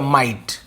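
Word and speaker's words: might: ये माइट नाइट राइट ये सभी के स्पेलिंग में आईजीएसटी लगता है क्या लगता है आईजीएसटी कुछ नहीं करना हमें ये वाला आइट के लिए आईजीएसटी लिख दीजिए पहले आई जी एच एच टी माइट और एम म का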